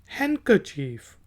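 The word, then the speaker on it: handkerchief: हैंडकरचीफ, hand HAND, hand, और KAR, chief, CHIEF। लेकिन जब हम इसको मिला के पढ़ेंगे तो इसको हम डी को साइलेंट कर देंगे और कहेंगे हैंडकरचीफ।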